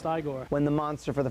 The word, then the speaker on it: Igor: brooker when the horses nay and winnie it's pronounced igor when the monster for the first time says